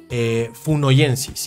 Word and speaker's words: Minimocursor funoyensis: Se llama Minimocursor funoyensis, y esto sí lo recontrabusqué, ¿no? Sí se pronunciaba así, sí se pronuncia así.